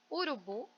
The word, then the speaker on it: urubu: Urubu, bu é a sílaba tônica mais forte, né?